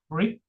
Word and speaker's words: friction: It's not friction, it is friction. Okay, tell me how many syllables? 1 and 2. Okay, so, and here this is how it divides. This is the stress syllable. It's frick, so it's friction. Friction, that's how it has to be pronounced.